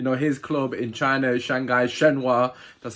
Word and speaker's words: Shanghai Shenhua: You know, his club in China, Shanghai Shenhua, that's how you pronounce it.